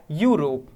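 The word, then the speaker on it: Europe: क्या आ रहा है, यूरोप। यूरोप का ई है वाउल, लेकिन प्रोनाउंसिएशन कैसे आ रहा है, व्यंजन के बेस पे आ रहा है।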